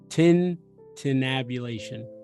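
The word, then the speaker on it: tintinnabulation: u l a t i o n Tintin Tin tabulation Tin tabulation yeah it kind of it's one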